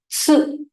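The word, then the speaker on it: つ: Tsu. TSU, right? Tsu. Tsu. It is not SU. We already have SU, which is su. Right? Su. This is su. T must be there when you pronounce it like it.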